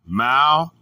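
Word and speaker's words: μᾶλλον: The Greek word is malon, pronounced malon.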